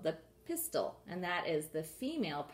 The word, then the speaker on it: pistil: There's 1 tall appendage, and it is called the pistil, and that is the female part of the flower. I'm going to tape it down. It's not pistol like a gun. It's spelled differently. P-I-S-T-I-L.